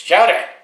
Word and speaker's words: Patrick Choudja: It's Choudja. That's how it's pronounced, for negotiating rates, so we don't know the negotiating rates here.